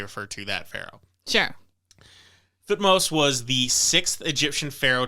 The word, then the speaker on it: Thutmose: Some people, particularly British, pronounce his name Tuthmosis, but it seems like a lot of modern anthropologists pronounce it Thutmose, so I'm going to go with Thutmose.